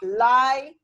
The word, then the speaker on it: library: Listen to Miss Fothers, it's library. You've missed a syllable out.